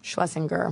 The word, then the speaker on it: Schlesinger: Is it Schlesinger or Schlesinger? Schlesinger. Okay, I've actually been saying it wrong.